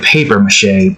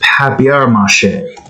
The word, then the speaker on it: papier-mâché: And before I thought it was like paper-mâché, but it's papier-mâché. Or mâché. Or maybe mâché is fine, it's just the papier part.